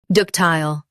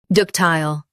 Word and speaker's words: ductile: Ductile. Now, read the syllables shown on the screen naturally. Duc. Tile. Ductile. Emphasize duc and make tile smooth. The T is clear.